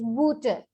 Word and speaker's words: Butter: Butter. In English we say butter, same word, same spelling, but the pronunciation is booter.